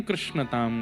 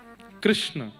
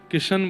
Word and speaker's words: कृष्ण: कृष्ण इस शब्द का उच्चारण कई लोग शुद्ध नहीं करते। क्योंकि शुद्ध कर लेंगे तो फिर भगवत प्राप्ति हो जाएगी। इसलिए सब लोग इस नाम को कोई किशन बोलता है, कोई कृष्ण बोलता है, कोई कुछ बोलता है।